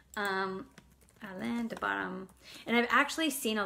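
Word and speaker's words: Alain de Botton: make you better and there's this book by ellen de bottom um called the course of love let me just make sure that i said it right um alain de bottom and i've actually seen a lot of his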